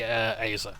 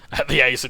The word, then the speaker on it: Azer: Alan the Azer, rather. That's the Azer being the pronunciation that I think Marisha Ray used on D&D Beyond.